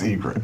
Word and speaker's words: Eget: Eget. Spelled differently. Like the bird. That's Eget. Do you know what Adam Eget has in common with a guitar player? Adam Eget has in common with a guitar player.